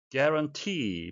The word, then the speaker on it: guarantee: Guarantee, 발음에 의해서 되겠는데요. 강세가 뒤쪽에 있고 장음이 되겠습니다.